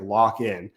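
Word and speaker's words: Lakhin: I didn't you don't you don't read it that way but it's pronounced like lockin at least according to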